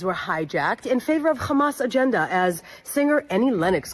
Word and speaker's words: Hamas: favor of Hamas agenda listen to her hit that hard H so uh tonight Hamas that's how you pronounce it yeah Kean Kean yeah